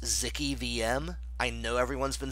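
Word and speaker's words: zkEVM: And lastly, just to front run one of the questions, it's actually pronounced Zicky VM. I know everyone's been saying ZK, ZK EVM, but it's Zicky VM is what I'm declaring.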